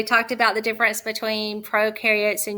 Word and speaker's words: prokaryotes: about the difference between prokaryotes and eukaryotes remember prokaryotes pro rhymes with no so they are not